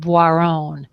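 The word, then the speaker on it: Boiron: readily available is by a French company called bon that's spelled b i r o n Bon they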